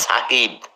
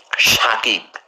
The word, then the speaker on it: সাকিব: আর ওর নাম সরি নামের উচ্চারণ হবে সাকিব কিন্তু ওকে বলে সবাই ভুল করে শাকিব এখানে শাকিব হবে না লেখে দন্তস দিয়ে উচ্চারণ করে শাকিব নো এস এ কে আই বি সাকিব ঠিক আছে আবার ওই